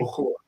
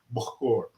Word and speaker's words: Bukhoor: They call it Bahur. That is spelled Bukhoor. Bahur.